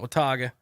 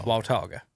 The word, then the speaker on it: Watauga: okay i'm just letting you know it's not wataga walter waltoga okay all right um at least at the